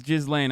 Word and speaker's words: Ghislaine: Yeah, it's Ghislaine.